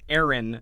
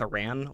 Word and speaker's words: Aran: And I also want to point out that it's pronounced Samus Aaron, not Samus Iran, like you'll hear a lot of people mispronounce on YouTube, because Ple's name is Arantes.